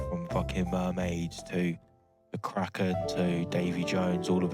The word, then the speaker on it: Kraken: Some like supernatural gatekeeper as well, the Kraken. No. Cropland's how it's pronounced in the original Scandinavian.